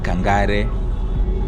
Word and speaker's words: Kangari: And here we are in Kangari, or you may say Kangare.